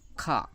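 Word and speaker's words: Х: আসলে ইংরেজি রাশিয়ান ভাষায় তো এইচ বলে কোনো অক্ষর নাই যে এইচ দিয়ে মানে হয়ের কাজ করবে, কিন্তু এই এক্সটা, দ্যাট মিনস রাশিয়ান ভাষায় এটাকে খা বলে, এটাই অনেক সময় উচ্চারণের ক্ষেত্রে হয়ের মতন উচ্চারণ হবে। তাহলে আমরা এটা যখন শিখতেছি তখন এটাকে খা বলে শিখবো, খা।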